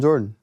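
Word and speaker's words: Jordyn: name is gaither okay but you call like it's michael jordan well i just call him jordan that's amazing but it's spelled j-o-r-d-y-n oh interesting okay interesting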